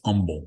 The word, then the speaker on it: Humble: It's Humble. You don't pronounce the H.